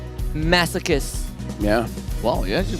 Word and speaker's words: masochists: Masochists. Yeah. Wow, you actually pronounced it correct.